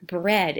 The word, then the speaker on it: bread: Now look out the word bread in sentence 1. That word is circled. Listen as I say this word. Bread. Bread. Say the word with me. Bread. The word bread has a short E sound spelled E-A.